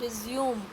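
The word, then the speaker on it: résumé: Different है, जिनका meaning भी डिफरेंट है, केवल स्पेलिंग सेम है। नेक्स्ट है RESUME, रिज्यूम।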